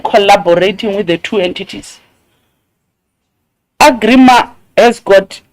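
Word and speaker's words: Agrément: Agrima. Or you call it agreement or something. But why is it written like agreement? I'm not a French. Then you see, that's a problem. It's pronounced agrima.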